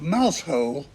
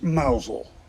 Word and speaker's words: Mousehole: guess that the Cornish small fishing Village of mousehole is actually pronounced mausole and that the Norfolk accent converts their town